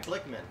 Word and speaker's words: Blickman: the daughter company of um bilk biltman bilchman i think that's how you pronounce it uh uh blickman sorry blickman blickman is probably like